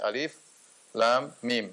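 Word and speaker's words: الم: Bismillahirrahmanirrahim, di awal surat, Alif Lam Mim. Alif Lam Mim ini sudah sering kita bahas, ya. Dia adalah huruf muqatta'ah, yaitu huruf yang terputus-putus sehingga tidak dibaca alam tetapi dibaca alif lam mim, sehingga tidak perlu ditafsirkan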